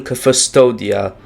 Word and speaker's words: Custodia: Blasphemous is set in Custodia, that's how you pronounce that, a land of faith and zeal,